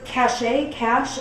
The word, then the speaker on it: cache: Okay, so 53, they just put up this text that says, clear your cache, I don't know, how do you say that?